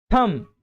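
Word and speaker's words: thumb: थंब डम। तो जो बी है वो साइलेंट होता है।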